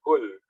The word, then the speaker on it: whole: Makanya dinamakan whole language, bukan whole ya, tapi bacanya whole. W-nya hilang. Bacanya whole language.